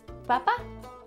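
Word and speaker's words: papá: what about a papa papa in Spanish is Papa same thing sounds similar just a little Accent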